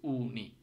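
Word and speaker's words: uni: Yuta কিন্তু উর মতো উচ্চারণ হচ্ছে উনি, ইউ না কিন্তু উনি।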